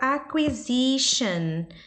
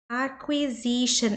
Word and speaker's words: acquisition: A palavra acquisition, acquisition, esse qui, aqui é igual o qui do quick, quando a gente fala quick.